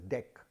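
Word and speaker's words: deque: typically ah i mean many people pronounce it as deck so as in a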